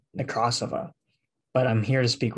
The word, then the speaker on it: Nekrasova: I think the Russian pronunciation is Nekrasova, but I'm here to speak with her about her new film, The Scary of 61st.